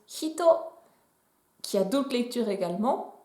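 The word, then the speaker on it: 人: Et on va commencer tout de suite avec le kanji qui représente une personne humaine qui se prononce hito, qui a d'autres lectures également.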